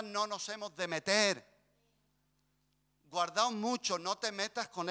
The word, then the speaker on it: guardaos: nos está corrigiendo que no se dice guardaros se dice guardaos Pues aquí está Mira